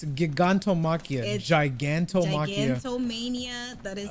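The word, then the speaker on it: Gigantomachia: than katos at least they would die instantly giganto Mania why has that name they said they said giganto Makia but ganto if you saying it wrong when they spell it it's giganto Makia giganto ganto Mania that is his name say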